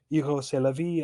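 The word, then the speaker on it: Rrose Sélavy: Eros c'est la vie, a French name, phonetically sounds like Eros c'est la vie, or in English, Eros, that is life.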